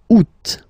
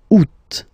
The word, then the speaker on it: août: And then here, two options, because, well, two options are acceptable in French. The first one, you don't pronounce the final T. Ou. Ou. Ou. Second one, you pronounce it. Août. Août.